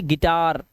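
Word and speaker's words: guitar: ई कर देना है जैसे यहां पर देखिए यू आई आया हुआ है लेकिन यहां पर इसका उच्चारण होगा ई का तो इसे पढ़ेंगे गिटार इसे पढ़ेंगे गिल्ट अब यहां पे यू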